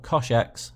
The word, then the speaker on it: cosh: also have hyperbolic cosine which we call coshx so that's Cosh X and again we have